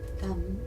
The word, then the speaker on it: Tam: We're going to pronounce Tara's seed syllable, Tam. And you can visualize a syllable in the center of her chest, or you can just visualize a pearl of emerald green light. Tam.